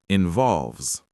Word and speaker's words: involves: The S at the end of involves is pronounced like a Z, involves.